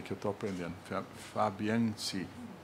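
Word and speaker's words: Fabiančič: Fabiancic. É, tem um CH no finalzinho que pronuncia aí, que eu estou aprendendo. Fabiancic.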